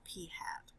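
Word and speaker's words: p̂: it doesn't really matter the sample proportion is a P with a little hat on it and we literally pronounce that P hat okay so P hat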